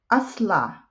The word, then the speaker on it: أصلع: أصلع, bald. I always make mistake when I pronounce this one. So هو أصلع. Okay, look at أصلع. Doesn't it rhyme with أحمر, أخضر, أصفر, أزرق?